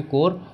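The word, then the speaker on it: corps: report पढ़ेंगे ठीक है इसमें हम जो है पी को साइलेंट रखेंगे कोर और अगर हम इसमें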